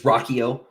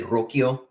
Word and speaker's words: Ruocchio: the last name first is is Rocko uh it's easier than it looks uh uh traditionally it should be said roio uh but uh in you know America we gave up you know American Americans say uh say the ARs differently so we we just sort of dropped dropped all that but my my family's